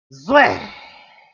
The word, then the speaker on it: Zwei: Hiss the Z. Zwei. It's Zwei. Zwei.